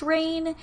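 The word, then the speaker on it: Rayne: again to rain Louisiana it is RA Y and E so I think it's pronounced rain if you just started listening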